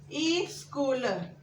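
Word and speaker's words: school: अभी ये स्कूल और स्माइल, यहाँ पे देखो, आप अभी स्कूल बोलते हैं तो कोई कोई बच्चे क्या बोलते हैं? स्कूल के जगह स्कूल बोलते हैं। स्कूल, स्कूल। एक्चुअली इस तरह प्रोनाउंस नहीं करते, ये ई गलत है। हम बोलते हैं स्कूल, स्कूल, स आधा होता है, स्कूल।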